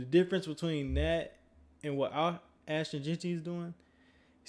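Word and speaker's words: Ashton Jeanty: But shoot, shout out to Austin Genty. Ashton. I keep on saying his name wrong. Ashton Genty.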